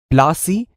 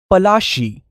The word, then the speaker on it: Palashi: plasi got its name plasi is an angiz pronunciation of palashi and the place derived